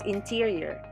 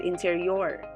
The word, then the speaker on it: interior: franchise not franchise interior the stress mark is placed on the second syllable therefore the correct pronunciation is interior not interior c here the stress